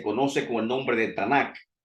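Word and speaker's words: Tanakh: con el nombre de tanak con k al final que se pronuncia muchas veces como si fuese una jota esa última acá y representa cada consonante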